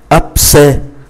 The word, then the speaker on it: abcès: Như vậy chỉ còn lại abcès, mang accent grave thì mang nghĩa là e. Abcès, mang accent grave và dấu huyền thì phát âm là e.